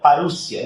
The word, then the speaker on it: parousia: A palavra vinda ali é traduzido para o português, é vertido como, a palavra lá em grego é parousia, né? A pronúncia seria parúcia, né?